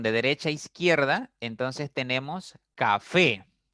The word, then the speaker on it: café: De derecha a izquierda, entonces tenemos café. Café es una palabra que tiene 2 sílabas. La mayor fuerza está en la primera sílaba y esa palabra termina en vocal E.